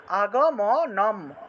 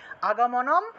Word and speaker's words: आगमनं: पुनः च आगमनं नहि, আগমনম এখানে ময়ের নিচে অসন্ত থাকায় আগমনম নহি এইভাবে।